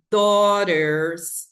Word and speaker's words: daughters: São quatro letras e um som só.